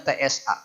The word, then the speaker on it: ث: dulu ya tsa ini huruf tsa jangan lihat ini tulisan Indonesia ini menyesatkan nanti bingung Bacanya apa itu TS A Tesa atau kumaha Ya sudah bahwa huruf sa ini adalah huruf s yang mengucapkannya lidahnya naik sa cobian sa lagi Sa